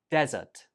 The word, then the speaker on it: desert: So this one here is pronounced desert, desert, desert, and the stress goes on the first syllable, desert.